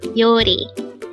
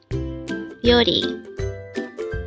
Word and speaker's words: 요리: YORI. This is pronounced as a two-syllable word. The first one is yo, second syllable is ri. YORI. YORI.